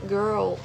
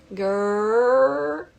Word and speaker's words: girl: Então, primeiro o R, girl, esse R bem eh enrolado. E depois disso a gente emenda a pronúncia do L.